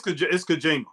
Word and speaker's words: Kojima: Yeah, it's Kojima.